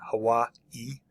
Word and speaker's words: Hawaii: we've got Hawaii um you should put like a an emphasis there at the end Hawaii um and Maui I